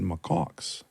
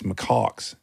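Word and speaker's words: macaque: And he said, "Macox." And the girls go, "Daddy, you said it wrong. It's Makox."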